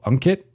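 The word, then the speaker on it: Ankit: If you want to, it says the A sounds more like a U in my name. So Unkit, like that.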